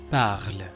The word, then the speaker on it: parle: La regla dice que toda palabra que termine en E no la pronunciamos, ¿verdad? Incluso en los verbos cuando se conjuga.